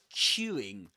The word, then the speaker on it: queueing: Look at my mouth when I pronounce this word. It's Q. Q. The lips go forward. Q. Q Q. And they get quite rounded.